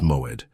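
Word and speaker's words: מועד: The Hebrew word that defines exactly what is happening to you is moed. Pronounce it with me in a low voice wherever you are.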